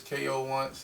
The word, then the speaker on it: Koonce: got oh yeah uh well my name comes ko once if you don't know how i spell it k.o once so uh and two underscores